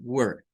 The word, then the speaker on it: were: Miren, uno es con el sonido como una ER, where, where, where. Y otro es con el sonido del schwa, como were, were, were, were, were, con el schwa.